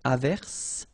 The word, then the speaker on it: averse: j, same thing here, averse, okay, S is pronounced, the E is not pronounced.